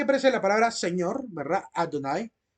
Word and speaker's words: Adonai: la palabra señor verdad Adonai Adonai con una letra a ae así como decir Adonai pero como una donay una aorta básicamente en realidad eso es una que parece ahí es una hatafa tag con una letra La